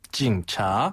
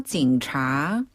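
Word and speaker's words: 警察: 중국어로 경찰은 한자 그대로 옮겨 써서 차라고 해요 징차 한번 더 징차 징차네 경찰은 차라고 발음을 하고요 그리고 우리가 신고를 할 때 흔히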